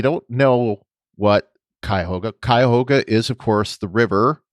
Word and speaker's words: Cuyahoga: of the uss cuyahoga she said something like hoga or something and of course that is the cuyahoga and of course i